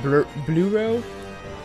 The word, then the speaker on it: Bleureau: His name was Bleureau, which bleu is blue in French. So I would say it would be like Bleureau. That would be his name in English, like bad pronunciation, but yeah, because it was a blue betta fish.